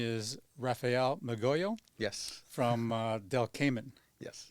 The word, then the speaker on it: Del Caimán: from Del Cayman. Yes. Now, tell me how you say it. So I say del Caimán.